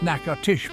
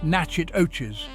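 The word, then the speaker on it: Natchitoches: naoshi Louisiana for the naoshi Christmas festival that's pronounced narsh by the way not nachet OES named after a Native American tribe naoshi is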